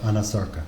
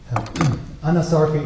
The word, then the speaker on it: anasarca: No, you're pronouncing it correctly. She did have a condition called anasarca. Can you explain what that is? Anasarca is a condition where